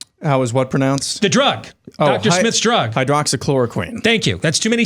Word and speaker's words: hydroxychloroquine: Hydroxychloroquine. Thank you. That's too many syllables for me.